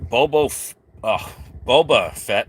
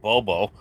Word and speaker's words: Boba Fett: We have Boba Fett, not Bobo.